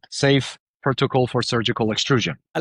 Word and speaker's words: Seif: It is called SEIF Protocol for Surgical Extrusion. I love that because his name is Dr. Seif, right? Seif is spelled S-E-I-F.